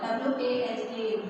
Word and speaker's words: walk: See, while writing, we spell the word W-A-L-K, walk, but we won't pronounce it. Which letter we won't pronounce? L.